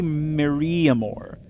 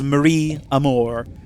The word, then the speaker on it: Maria Amor: I always say Maria Amor. Like, I combine the ia with the amor, so it's like one single Maria Amor. But it's Marie Amor, and then, who's, of course, a lawyer for grandmothers, allegedly.